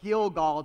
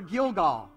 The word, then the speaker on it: Gilgal: the Hebrew word for gilgal and notice it says so the name of that place is called gilgall to this day so every time they said the word gilgal it rhymed with roll away every time they said